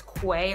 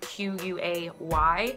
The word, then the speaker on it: Quay: Now, when you look at their Instagram, it looks like it's Quay Australia. It's spelled Q-U-A-Y, but I believe that it's pronounced Quay because I've seen some fellow YouTubers here pronouncing it Quay. So I'm gonna try and go along with that.